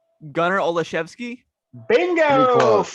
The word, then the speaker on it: Olszewski: How do you pronounce this name? Gunnar Olszewski.